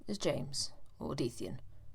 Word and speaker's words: Deathian: My name is James, or Dethian. No, it's not pronounced Dethian.